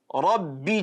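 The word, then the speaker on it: ربي: If the letter ra is carrying fatha or dhamma, it has to be tafkhim. It has to be a full mouth pronunciation. Rabbi ja'al, Rabbi, ra, fatha ra.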